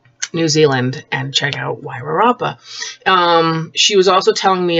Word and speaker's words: Wairarapa: She told me how to pronounce it. Wairarapa. I did it! Wairarapa.